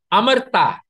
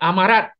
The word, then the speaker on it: Amarta: Actually, that's the correct pronunciation. It's not Amarat, which has been pronounced for maybe 200 years. Amarat. There's no such thing, such word as Amarat. It's Amarta. It's a Sanskrit word.